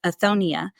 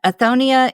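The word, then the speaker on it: othonia: is I'm a part of an organization called aonia and that is spelled o t h o n i a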